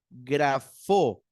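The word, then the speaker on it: γράφω: también se dice graf grafo grafo Ah no perdón el acento va en la primera vocal Aquí está lo tengo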